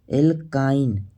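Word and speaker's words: alkyne: ए था इन ठीक बस उच्चारण प करना है एल्काइन इसमें क्या आ रहा है आइन ठीक आइन और जब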